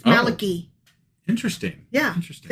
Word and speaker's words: Malachi: And I cannot spell it right. Like I keep wanting to spell Malachi with a ai at the end, but it's only I. It's Malaki.